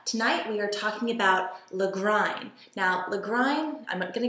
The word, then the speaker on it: Lagrein: going to come through this is the legrine that's how you pronounce that even though it looks like lagrienne no la grine from praxis the 2007